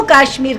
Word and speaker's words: काश्मीर: इस राज्य को जम्मू कश्मीर कहेंगे ये जम्मू कश्मीर राज्य है कभी भी अपनी बातचीत में भी केवल कश्मीर शब्द का प्रयोग मत करें इसका सही उच्चारण है जम्मू काश्मीर मित्रों जम्मू कश्मीर को